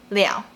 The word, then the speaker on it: 了: Let's go! This character has 2 pronunciations, le and liao. When this character is used as a particle added after a verb or a sentence, it's pronounced as le.